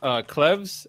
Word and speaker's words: Cleves: I feel like it's Cleves, like Anne of Cleves.